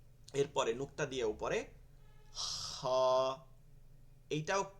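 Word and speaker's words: خ: যে দুইটাই কি হা এরপরে নুক্তা দিয়ে উপরে খা এইটাও খ হবে না বাংলায় যে খ বলি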